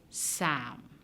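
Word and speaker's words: psalm: what about the word sam and this word for many many years is quite confusing because it's spelled with a p p s a l m but you never hear that sound no the p in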